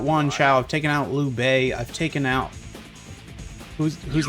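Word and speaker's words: Lü: we need to keep up so it is Lou though like that is how you pronounce it so I am pronouncing it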